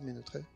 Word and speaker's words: Mutré: et puis Greenfib avec Luc Mutré, ça se prononce comme ça muté.